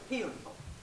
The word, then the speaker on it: Hellenthal: Pronounce it for me so I can get Just a little emphasis on the heat. Heat. Okay, helpful. Helpful? Heat. Okay, what you said. Okay, I'm sorry. Healenthal.